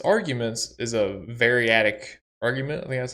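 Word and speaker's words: variadic: the second half of its arguments is a variatic argument that's how you say it meaning it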